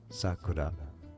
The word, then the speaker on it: Sakura: Sakura.